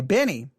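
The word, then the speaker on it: BENEE: to be listening to benny her her name is spelled b-e-n-e-e-b-e-n-e-e so when you say benny it just seems weird um but that is her name all right anything about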